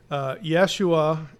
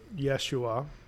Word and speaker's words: Yeshua: and I really can't Yeshua is going to be the way the Hebrew word Yeshua meaning salvation or deliverance is pointed so the yeah pronunciation would would actually be more accurate why they put Yahshua